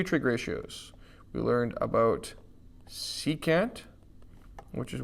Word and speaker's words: secant: We wouldn't call this like sec or something. This is secant.